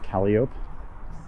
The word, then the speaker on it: Calliope: The next one after that is Calliope, which we pronounce Calliope.